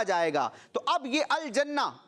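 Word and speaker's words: الجنة: تو اب یہ الجنہ, اس میں نون پر تشدید ہے, یہ مشدد ہے, اس کو 2 مرتبہ پڑھنا ہے.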